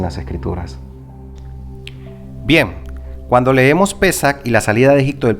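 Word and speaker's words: פסח: de la palabra pascua que en hebreo se pronuncia pesa que significa brincar saltar o pasar sobre ve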